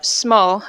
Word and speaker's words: sumo: before uh you know Sumo or Smo as it's actually pronounced here Sumo that women aren't allowed